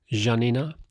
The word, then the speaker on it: Janina: Janina is away, so Janina is like how she likes to be pronounced. That's how her name is in German.